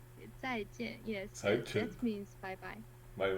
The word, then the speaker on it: 再见: how do you pronounce Can it? you read it? 再见. Cai Jian. 再见. Yes, Cai Chen.